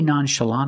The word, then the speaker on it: nonchalant: act nonchalant about it in this case the NT at the end of the word is between vowels when you link the words so you don't really hear the T try to be nonchalant about it or act